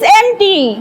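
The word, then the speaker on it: empty: পি টি ওয়াই এমটি এখানে পি এর উচ্চারণটা সাইলেন্ট থাকে যাই হোক তোর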